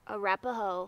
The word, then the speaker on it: Arapaho: So how do you pronounce the Indians that were here? The Arapaho.